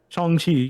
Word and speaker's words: Shang-Chi: pronounced Shang-Chi, but Shang-Chi, yes. Shang-Chi. Shang-Chi, yeah. Shang-Chi. Shang-Chi. Chi, Shang-Chi. not she.